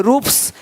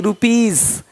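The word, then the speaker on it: rupees: जैसे कि यहाँ पे रूप्स, यहाँ जा साउंड नहीं आएगा, लेकिन यहाँ पे एक्स नहीं एग्स। हीरोज, हीरोस नहीं, देख रहे हो, रुपीस नहीं रुपीज, ज का साउंड आ रहा है हल्का सा।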